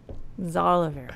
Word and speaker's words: Xalavier: Now we can't say it right because we're so paranoid about saying it Xalavier wrong. Nelson Jr. That was actually perfect. Nice. I was like, Xalavier.